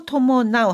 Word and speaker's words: 伴う: 토모나우,危険を 토모나우 하면은 위험을 수반한다.